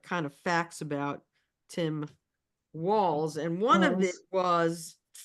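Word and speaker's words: Walz: it if I can find it is Timothy walls Timothy walls pronounced walls and he is the governor of Min Minnesota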